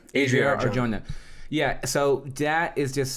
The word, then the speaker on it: Adria Arjona: Saga trilogy, and now we're adding Adriana Arjona. Is that how you say her name? I'm sorry. Adria Arjona.